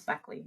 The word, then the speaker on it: Bechle: And I have to apologize that I always say your last name wrong. I know it's Beckley, and I still do it wrong.